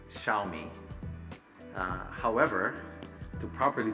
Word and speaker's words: Xiaomi: little me means rights they're both third tone which is a long tone in Chinese so we basically say